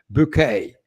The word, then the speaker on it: Bucket: keeping up appearances uh high scene bouquet as you call yourself but it was spelt bucket so i just